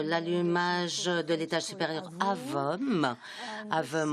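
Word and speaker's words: AVUM: AVOM en anglais, AVOM avec la prononciation française.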